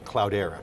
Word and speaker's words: Cloudera: Question on the name, Cloudera. Mm-hmm. It's spelled, it's actually cloud with ERA in the letter, so the cloud era.